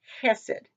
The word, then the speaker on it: hesed: in the original is just hesed with the accent on the first syllable but here it has